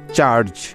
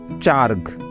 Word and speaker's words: charge: তাহলে শব্দটার উচ্চারণ হতো চার্গ, CHARG, চার্গ। কারণ জি এর পরে কোনো ভাওয়েল না থাকলে জিটা গ এর মতো উচ্চারিত হয়।